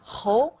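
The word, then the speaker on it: 猴: Selon la prononciation, le singe Hou a la même prononciation qu'un autre caractère Hou, Hou Jue, Marquis.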